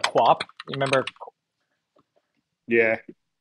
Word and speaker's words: QWOP: Quap. Of course. And no, I never thought to pronounce it like that.